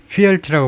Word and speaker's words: fealty: 영어에 있어서는 소리 언어이기 때문에 그래서 fealty라고 발음하네요.